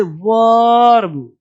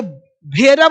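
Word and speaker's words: verb: आगे देखो, ई का उच्चारण, जब किसी वर्ड में ई या आर हो तो ई को आ पढ़ते हैं, ई को आ। यहाँ तो ई को आ, यहाँ पे ई को आ पढ़ रहे हैं, जैसे वर्ब, जर्म। अब ये भेरब नहीं है, ये जेरम नहीं है, जर, जम।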